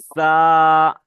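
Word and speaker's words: ز: তারপরে দেখেন বেশ, দেখেন তারপরে দেখেন এটা হলো জা, জা। দেখেন যে উপরের দাঁত এবং নিচের দাঁতটা কি একসাথে চেপে উচ্চারণ করতে হবে, জা, জা।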